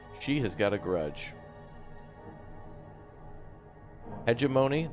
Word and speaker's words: hegemony: has got a grudge hegemony that's how you say it okay someone was saying like hedge of money and i'm like i